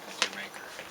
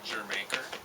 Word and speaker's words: Jamaica: You know, it's pronounced Jamaica, and it stands for Jamaica, Oh. and so people from England used to vacation in Jamaica, right? With the Cockney accent, the way it's said in Cockney, right, is they say it Jamaica.